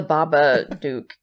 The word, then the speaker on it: Babadook: a bowl of worms the babadook that is the Baba Duke Duke yeah it is how they say it throughout the movie right yeah but he says Duke Duke because I think it's like the knocking noise that he makes okay but I didn't